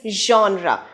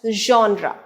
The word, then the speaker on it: genre: for so many people it is neither jenner not gendra it is genre so the stress is on the first syllable john and the word would be pronounced as genre the sixth word in